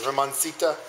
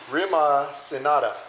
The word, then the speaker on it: rimacinata: We use this Caputo double zero flour and then a little Semola Rimacentina. I don't know how to say it. Rimancita. Please go ahead and Rimacinata. There you go.